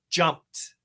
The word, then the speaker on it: jumped: So, in this case, the pronunciation is jumped. Jumped with a t.